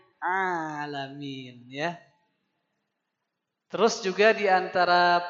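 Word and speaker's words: العالمين: Jadi baca hamdalah dibacanya alhamdulillahiabbil ngalamin. Amin. Opo pak? Harusnya bukan ngalamin tapi a pakai ain alamin.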